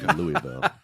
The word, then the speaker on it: Louisville: I am a Northerner and never will not be, and so it's like, it's Louisville. As my friend Steve said, it's King Louis, not King Lou. So Louisville.